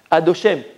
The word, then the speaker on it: Adoshem: Comment on le prononce? Adoshem. On ne dit pas comme il est écrit.